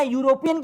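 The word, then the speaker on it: European: यूरोपियन की बात करें तो ये यू यानी य से आता है।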